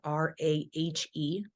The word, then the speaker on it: Rahe: My last name spelled kind of weird, RAHE. So Rahe phonetically, Hmm.